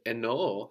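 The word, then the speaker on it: εννοώ: And eno has two O's, and the last is accented.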